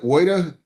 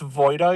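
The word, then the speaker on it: Woida: Is it Woyda, W O I D A, correct? It's pronounced Voyda, Your Honor.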